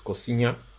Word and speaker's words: coxinha: the exdeath in there the X in there is actually silent so it's Ksenia not Cox yeah so for my